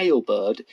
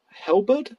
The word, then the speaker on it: halberd: we'll be using and it's not a hail bird it's pronounced as help hell bird hell bird sounds like